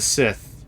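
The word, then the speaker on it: Cyth: C-Y-T-H, the Sith. Yep, it's pronounced the same way.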